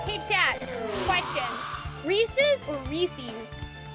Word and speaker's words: Reese's: we're at 60k I like the first one because Reese's rhymes with pieces hey no no